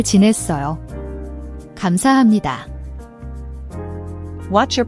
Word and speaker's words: 감사합니다: The B/P at the end of gam and the H in hap can be tricky.